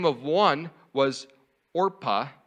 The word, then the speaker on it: Orpah: these two moabite ladies now oprah orpah say it right come on orpah means